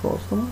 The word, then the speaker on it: póstuma: A palavra póstuma é uma palavra proparoxítona, tá vendo? A antepenúltima sílaba tônica, que é acentuada, e a contemporânea é uma palavra paroxítona, terminada com ditongo.